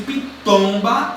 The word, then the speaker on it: pitomba: Quando eu pronuncio pitomba, a sílaba mais forte é o tom. Pitomba.